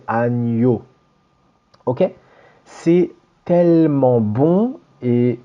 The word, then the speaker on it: agneau: faut savoir absolument l'écrire, surtout à cause de cette prononciation nie, agneau. Ça, c'est super important. Donc le N après le G, c'est toujours comme ça, nie. Pas de agneau, c'est agneau.